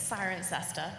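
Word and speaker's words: Cirencester: I couldn't pronounce it how do you pronounce that it's siren sester siren cesser okay um so I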